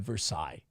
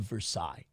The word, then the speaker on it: Versailles: by the way uh people are criticizing my pronunciation I'm sorry I will say it right the Treaty of Versailles is that okay was that froggy enough for you I apologize the Treaty